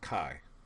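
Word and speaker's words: chi: Now what looks like x squar that's kiquare uh that's our kaiquare statistic and again pronounced kai.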